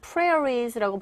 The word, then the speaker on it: prairies: 이 단어 여기에 강세 주시면서 prairies라고 발음하시고 대초원이고 이 on the 동사 형태 있죠.